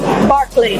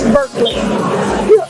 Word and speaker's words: Berkeley: down and edward jenner from barclay which we pronounce in texas berkeley okay that's acceptable i